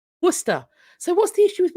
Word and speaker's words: Worcester: it's University town and that is the correct pronunciation Worcester so what's the issue with wer Source you've got Worster wer you can do it there you go